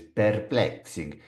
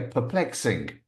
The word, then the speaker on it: perplexing: Notice the pronunciation p. It's not per. My friend Luigi says perplexing. In fact, my friend Luigi doesn't know this word. But if he did, he'd probably say perplexing or something. But it's not, it's p. Perplex. Like you have a stutter.